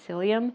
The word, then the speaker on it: psyllium: especially the psyllium husk, it's um spelled ps y, but you pronounce it psyllium.